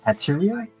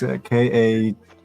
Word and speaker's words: Katria: Hateria? Which one? Hateria. It's Katria.